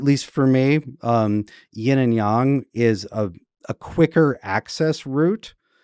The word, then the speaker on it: yang: start saying yin and yang. And so there's a noticeable difference between us when we're talking about it. It's pronounced yang, Chris.